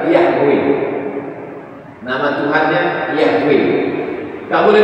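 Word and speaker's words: Yahweh: macam mana cara membacanya tak ada huruf hidupnya y HW lama-lama terbaca juga yahwe nama Tuhannya yahwe engak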